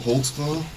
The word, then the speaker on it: Holtzclaw: how to spell it how do you say it man holtzclaw holtzclaw what is that it's a German can you speak German